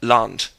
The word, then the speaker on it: Land: simple example the word land Never Land never as in English the German a is always pronounced as ah in every situation except of course when